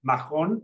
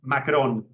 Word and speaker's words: Macron: a la francesa, i cesadir no recomana dir Macron, sinó senzillament Macron, perquè fa un poc pedant, perquè tanmateix segurament aquella